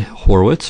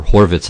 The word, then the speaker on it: Horwitz: this it's named for Bernhard Horowitz or Horvitz I guess would be a better pronunciation a strong German master